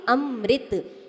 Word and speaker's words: अमृत: कहां गया तो क्या बोलोगे अमृत क्या बोलोगे अमृत सही प्रोनाउंस में सही उच्चारण यही है ध्यान रखो